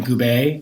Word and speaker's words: Gube: Like my family, I think I learned my last name was Gube. Growing up, I was like Gube growing up, Gube or whatever. And then in college, like my freshman year, like a professor who I had a crush on, she pronounced my name Gube, and I was like, yeah, that's how you say it. That's how you say my name.